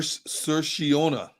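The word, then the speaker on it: Saoirse: so erase Ronan oh I got the pronunciation for you okay you ready yeah sir sir shiona that's how it's pronounced that's how you say that cerseus Irish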